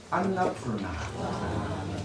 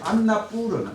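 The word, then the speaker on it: Annapurna: 그리고 트레킹으로 많이 찾고 있는 안나푸르나. 안나라는 말은 곡식이라는 말이고, 뿌르너, 푸르나라고 하는데, 안나푸르나. 원래는 언너푸르너라는 발음입니다.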